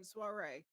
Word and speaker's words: Suare: I won't judge listen I picked the name Suare rhymes with parte it's easy to say all right well that